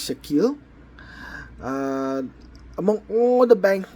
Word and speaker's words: shekel: Uh or some people might pronounce it sakali, but I think it's shekel.